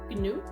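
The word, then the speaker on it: ñu: Gnu? Do you literally say it gnu? In Spanish it's new, and it's actually one of the only words in Spanish that starts with the letter ñ.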